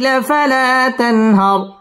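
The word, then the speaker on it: فَلَا تَنْهَرْ: তানহার র পুর হবে এবং রয়ের মধ্যে ওয়াকফ করতে হবে। وأما السائل فلا تنهر، وأما السائل فلا تنهر.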